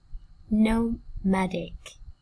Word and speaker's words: nomadic: Nomadic, nomadic, nomadic, nomadic. Trọng âm rơi vào tiết thứ hai các bạn nha.